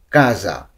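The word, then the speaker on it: casa: আর হ্যাঁ, ভিডিওটি না টেনে দেখার অনুরোধ রইল, কারণ উচ্চারণগুলো অনেক ইম্পর্ট্যান্ট, তাই উচ্চারণ সহকারে আমরা এই ভিডিওটি দেখব। তো প্রথমে আমরা দেখব বাড়ি। ইতালিয়ান কী হবে? কাজা।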